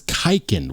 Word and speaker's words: Kaiken: you're wondering what is kiken what what is kiken well kiken is is the modernday spelling and pronunciation of the word Quin or quiken and it refers to